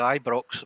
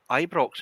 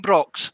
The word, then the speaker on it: Ibrox: It was all right until they tried to pronounce that Ibrox. It was an American accent. I couldn't get a Scottish accent or a British accent, so they were calling it Ebrox, which I thought was funny.